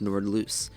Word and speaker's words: Nordlys: of course Nord loose I thought it pronounced Nords but it's pronounced Nord loose the more you know